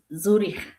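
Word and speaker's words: Zürich: So in German it's Zurich. Zuri. Do you hear this Swiss German? Zuri.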